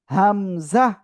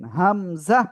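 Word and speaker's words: همزة: কিন্তু হামজা হামজা এই অক্ষরে এক আলিফও টান হবে না। কোন টান হবে না। সবাই একসাথে জোরে জোরে পড়েন আর লেখেন হামজা ওকে।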